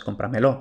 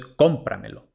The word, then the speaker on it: cómpramelo: Los pronombres enclíticos no se tildan aunque muchos nativos los pronuncian tónicos. Esto es incorrecto. Por ejemplo, muchos nativos dicen dámelo. No, esto es dámelo. Muchos nativos dicen cómpramelo. Esto no es cómpramelo, esto es cómpramelo.